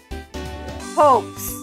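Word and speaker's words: Paups: My name is Poes.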